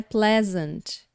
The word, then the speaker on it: pleasant: suspense agora porque Legend normalmente a gente vê se please aí no comecinho e quer dizer Police né mas é presente tá eu vou aí fazer a sílaba tônica tá no comecinho da palavra e esse presente ele